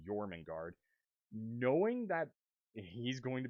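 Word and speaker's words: Jörmungandr: that giant Serpent and I'm familiar enough to know how to pronounce that Serpent's name yorman guard knowing that he's going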